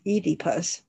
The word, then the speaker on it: Oedipus: would probably see king oedipus or pronounced as edipus huh oedipus or edipus and agamemnon